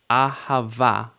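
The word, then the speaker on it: אהבה: ah ha VA now the hey at the end of a word is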